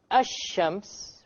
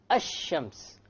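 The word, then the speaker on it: الشمس: Notice when I say ash-shams, which is the Arabic word for sun, where is the lam? Silent. Silent. It's not pronounced, right? Ash-shams.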